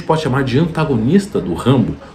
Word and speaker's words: Rambo: estudou autores franceses, entre eles rimbow ou se você ler como em francês, Rimbô, que até o clube de literatura clássica uns tempos atrás colocou como um dos livros que lançaram a tradução, a pronúncia correta é Rambo.